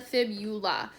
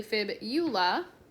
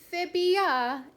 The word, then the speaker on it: fibula: Most people like to pronounce these and like kind of combine the words of saying tibia and fibia, but it's actually fibula. So if you put fibia, it will be wrong. It is fibula.